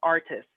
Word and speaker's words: artist: And also, sometimes the T is a little bit softer in being pronounced. So it might be a little soft. You might hear people say artist.